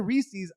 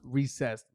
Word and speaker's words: Reese's: if you're out there listening you called it reese's i'm here to let you know it's pronounced recessed i've looked it up and it's from the